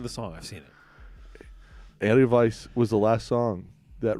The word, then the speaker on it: Edelweiss: Is it Edelweiss? No, Edelweiss. Edelweiss. You need to watch Sound of Music if you don't know how to. Edelweiss. Well, I'm Edelweiss. singing the song. I've seen it. Edelweiss was the last song